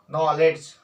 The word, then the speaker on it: knowledge: जैसे अंग्रेजी में KNOWLEDGE नॉलेज, नॉलेज नहीं बोला जाता, ओके, के साइलेंट।